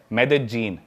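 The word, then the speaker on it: Medellín: उसकी एक सिटी है मेदजीन। स्पेलिंग में उसमें डबल एल आते हैं। मेदलीन होता है। लेकिन कोलंबियन स्पैनिश में ल को ज बोलते हैं।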